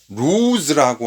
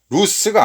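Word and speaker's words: ruse: 루즈라고 하는 단어가 책략이나 술책의 대표 중에 하나예요. 루스가 아닙니다. 이거 발음적으로 루즈가 됩니다. 루즈. 그렇죠?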